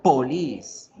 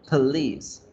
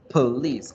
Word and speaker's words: police: con la correcta pronunciación, yo no digo police, no se dice police. Se dice con la schwa, police, police. Casi que suena como a please, como a favor, please, no, police, police.